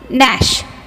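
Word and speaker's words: gnash: is the silent letter Nash Nash G here also the G is a silent letter no no G is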